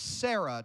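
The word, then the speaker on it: צרה: Sarah ts AR H Sarah I want you to write this above that word distress right there T SAR a H and this is pronounced Sarah it's got a silent T because T's are ooh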